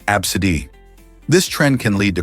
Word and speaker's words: Abcde: Some parents are getting creative with their children's names, choosing unconventional ones like ABCDe pronounced absid.